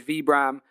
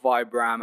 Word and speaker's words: Vibram: Finger kso shoes and that is V Bram and not Vibram as apparently I have